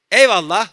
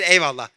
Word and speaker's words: eyvallah: In Turkey, we use this frame, eyvallah, how we pronounce it is very important. If I say eyvallah, which means thank you very much. But if I say eyvallah, which means I'm going to show you in the future, but I said eyvallah.